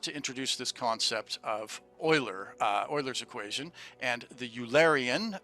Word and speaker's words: Euler: at 48 so um leonhard euler is swiss and that's how you would pronounce it in swiss so it's actually euler and so we'll hear